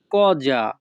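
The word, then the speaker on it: cosa: জিনিসটা কোথায় এই বাক্যের ইতালিয়ান ভাষা হবে দোভে লা কজা। দোভে লা কজা। এখানে সিও এর উচ্চারণ হবে ক, এস এর উচ্চারণ হবে যা, কজা।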